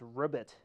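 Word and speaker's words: Robit: I have the Miele and I have this Ribbit. And that's pronounced R-O-B-I-T. That's how that's spelled.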